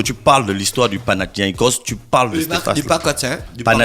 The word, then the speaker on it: Panathinaikos: Panakuki. Tu devais apprendre la prononciation.